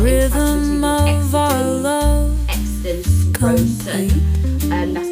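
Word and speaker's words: Xaden Riorson: Exton Rosen.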